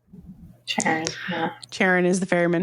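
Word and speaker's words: Charon: It's like Sharon. Sharon.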